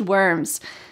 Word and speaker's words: worm: So in American English, this R is a strong, hard sound.